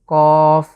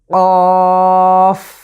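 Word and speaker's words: كاف: শেষে কিন্তু কফ, শেষে ফা আছে, এজন্য আমরা ঠিক শেষের জায়গাটিতে এসে দাঁত দিয়ে আমরা নিচের ঠোঁটকে স্পর্শ করছি, কাফ।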